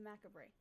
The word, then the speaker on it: macabre: Thank you for joining us on this Halloween journey through history, myth, and the macabre.